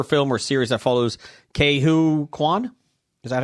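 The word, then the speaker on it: Ke Huy Quan: Some have said they would love to see a new adventure film or series that follows Ke-Huy Quan. Is that how you say it? Ke-Huy Quan? Quan, yeah.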